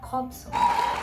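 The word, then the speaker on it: Jakobson: assim e a Robson o nome dele se escreve com J se escreve mas a pronúncia correta é Robson é esse cara aí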